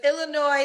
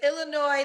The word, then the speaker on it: Illinois: the time but it's Illinois the S is silent yes you are so dumb you are really dumb for real but is Illinois the S is silent